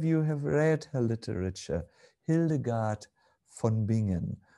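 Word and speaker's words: Hildegard von Bingen: have read her literature hildegard fonbingen or pronounced an american english word hildegard of began something like this she expressed very poignantly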